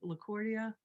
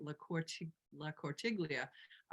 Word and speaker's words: La Cortiglia: LaCortia, I'm sorry, I didn't pronounce that right. La Cortiglia.